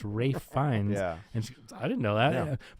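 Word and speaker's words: Ralph Fiennes: I thought his name was Ralph for a very long time. Oh that's funny. But Katie did too until I said it the other day. She goes what? And I go yeah his name's pronounced Rafe Fines.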